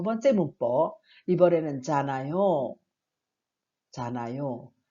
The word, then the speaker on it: 잖아요: 자, 받침이 니은 히읗이어도 히읗은 받침을 하지 않습니다. 그래서 우리가 잘 아는 좋다, 좋다라는 단어는 히읗을 사용하죠. 그런데 좋아요, 그러지 좋아요라고 하지 않죠. 마찬가지로 잖아요도 그렇게 발음을 하지 않기 때문에 그냥 니은 소리로 해서 연결하면 되겠습니다. 자, 잖아요는 다른 사람들이 알고